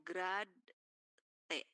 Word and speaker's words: grad T: Ini dibacanya grad t gitu ya.